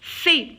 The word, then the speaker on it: fait: Sonia, IA, ça prononce IA, Sonia, fait. Alors, regardez, AI, je la prononce et fait. Pourquoi j'ai barré la lettre T? Parce que je ne la prononce pas.